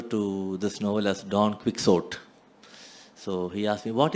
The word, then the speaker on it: Quixote: I said, I'm sure it's Quixote. That is how it is pronounced.